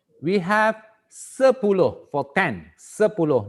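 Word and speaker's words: sepuluh: you can say we have sepulo for 10 sepulo not satupulo we don't pronounce Estates okay and then you pronounce um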